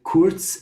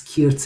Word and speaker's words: kurz: So you see on the right, kurz and kurzer, or in other dialects, kirz and kirzer, kerz and kerzer. That's how it's pronounced in Yiddish.